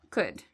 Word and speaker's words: could: We have O and U. So afterwards, you don't need to worry about this L. It's silent. So we say would, should, could.